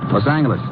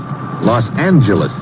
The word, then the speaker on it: Los Angeles: Later we moved out to California, Los Angeles. Correction. Los Angeles. Huh? Yeah, soft G.